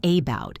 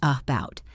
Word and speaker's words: about: You hear it in the word about. It is not about, it is about.